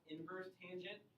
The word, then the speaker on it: inverse tangent: Once again, this is pronounced inverse tangent. Don't say tangent to the negative first, it's inverse tangent.